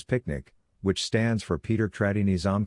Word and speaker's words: PQNK: PQNK to be pronounced as picnic which stands for Peter Kratinam cashiari and means the regenerative and sustainable pristine organic farming system.